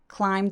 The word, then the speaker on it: climb: MB로 끝나는 이런 발음들 비발음 삭제돼서 climb the beanstalk 소리 냅니다.